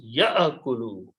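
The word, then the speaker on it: يأكل: So this will become ya'akulu. In this case, kaf carries a dhamma. So ya'akulu, do not pronounce ya'akulu. It's a hamza. Alif is not to be pronounced. Ya'akulu.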